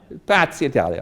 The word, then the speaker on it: Piazza d'Italia: Is that the right pronunciation, Gaetano? Piazza Italia, okay, thank you.